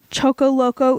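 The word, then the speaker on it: Choccolocco: it chocolata yeah but from the pronunciation gods that i found online choco loco is the most correct way to say it but i'm not i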